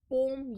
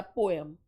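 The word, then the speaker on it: poem: पोम या पोएम दोनों ही pronunciation चलते हैं.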